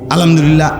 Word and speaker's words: আলহামদুলিল্লাহ: আল্লাহ শব্দের শেষে যে একটা গোল হা আছে ছোট এটা ক সুবহানাল্লাহ সুবহানাল্লাহ কইলে তো শুধু লামের মধ্যেই শেষ হয়ে যায় তো আল্লাহ শেষে আরেকটা হা আছে না এটা কই উঠে না